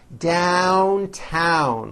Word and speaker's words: downtown: You just have to remember that even though down and other words like it are spelled with an O, you still attack the vowel with that A sound in hat.